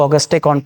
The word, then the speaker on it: Auguste Comte: जो father of sociology कहे जाते हैं ऑगस्टेक कॉन्ट। इसको अगस्त कंट प्रोनाउंस किया जाता है।